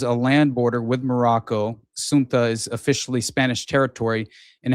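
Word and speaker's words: Ceuta: geography uh it's it's it's basically pronounced uh Suna I believe uh is is how it's pronounced if I remember correctly.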